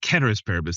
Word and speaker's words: ceteris paribus: Ceteris paribus. They correct me. My Latin speaking. It's a hard C. Ceteris paribus in the Latin.